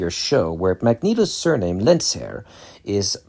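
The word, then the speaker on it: Lehnsherr: show, where Magneto's surname, Lensair, is pronounced correctly. The correct German pronunciation is Lensair. So, I'm pronouncing it correctly here. Whereas most X-Men adaptations have characters, including Magneto himself, pronounce it lensure.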